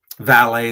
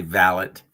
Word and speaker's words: valet: certain French words like instead of saying filet they'll say fillet instead of saying um valet they'll say valot like certain things but